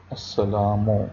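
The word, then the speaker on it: السلام: Assalamu, Wow. Alaikum. And Lam, Ye, Kaf, Meme. Mahmood. Meme, He, Meme, Wow, Dal. Wa alaikum assalam. Wa alaikum. And Lam, Ye, Kaf, and Meme. Assalam. Here Lam is silent.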